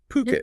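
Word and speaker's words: Phuket: That's P H U K T pronounced Puket. Puket.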